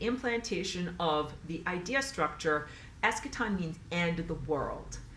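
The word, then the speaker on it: eschaton: things um the the expectation of um an escaton the s e so I spell it e s c h a t o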